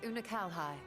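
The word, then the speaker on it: Unukalhai: You remember Unakalhai?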